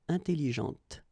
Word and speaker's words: intelligente: When you put this well, actually you will pronounce the final T, okay, but you don't pronounce this here. Intelligente.